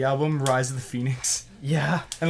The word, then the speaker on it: Phoenix: Because if you were to actually spell it how it sounds, It would be the E before the O. it would be like F-E-N-I-X. Phoenix.